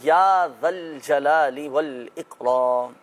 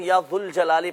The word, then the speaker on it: یا ذا الجلال والاکرام: یا ذا الجلال والاکرام، یا ذا الجلال والاکرام۔ اچھا بہت سے لوگ یا ذو الجلال پڑھ رہے ہوتے ہیں، سو صحیح تلفظ یہ ہے کہ جب یا کے ساتھ پڑھا جائے گا تو یا ذا الجلال والاکرام، یا ذا الجلال والاکرام،